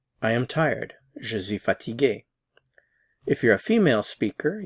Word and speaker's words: fatigué: Now this last one, tired, it's pronounced the same for both, however it's spelled differently. Fatigué for the masculine, fatigué, and fatigué for the feminine.